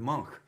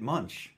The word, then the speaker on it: Munch: the scream that painting edvard monk is his name but it's spelled munch and on the record if you uh it's on the uh knuckleball sweet record i think i pronounced it munch which is wrong and rhymed it with lunch so i got hoisted